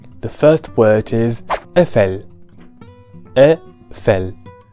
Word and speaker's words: Eiffel: first word is FL a fell this word is never pronounced as Eiffel in French but FL with an